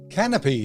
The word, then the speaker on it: Kanopy: gear I'm canopy spelled with a K has been around for